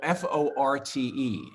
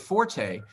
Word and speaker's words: forte: There still is a word called Forte, and most people pronounce it forte, right. But the actual pronunciation is fort.